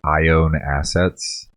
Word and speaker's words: IONE Assets: And just to clarify, it's a venture of ours under Machine&Emotion that's called I Own Assets. It's just like it sounds, like I own assets, but it's spelled IONE assets.